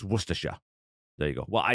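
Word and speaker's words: Worcestershire: first gunsling aarin maybe because I really like werer sauce and yes that's how you say it it's not war cester Shire or even werer or worshire it's werer there you go well I you know at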